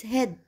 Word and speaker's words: head: Remember, in some words, the letters A, E, A sound like E, short E. E. E, E, we pronounce it like E. The sound's head is white.